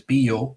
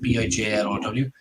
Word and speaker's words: Bijlow: I believe that's how you pronounce his name, is Biljow, or I think that's how the Dutch pronounce it, Bijlow.